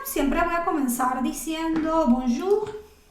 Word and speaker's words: bonjour: Entonces no voy a decir bonjour, sino bonjour. Y en este caso, esa R al final sí se pronuncia, no como en los casos que les comenté donde la S y la T generalmente no se va a pronunciar. Estas R's al final se van a pronunciar.